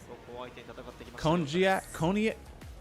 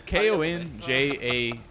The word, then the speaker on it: konjac: Cognac. 闘技対決ということに。 I think it's called like. I don't know how it's pronounced, but I think it's like. 練習期間通じて負けていなかったというね。いやちょっとびっくりしました。 It's spelled like KONJAC jelly.